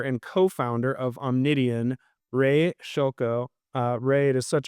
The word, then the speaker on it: Szylko: Uh that's the old Eastern European way.